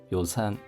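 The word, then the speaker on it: 予算: 오세 요산안 호가 짧은 발음이고 예산할 때도 요산 요가 짧은 발음입니다.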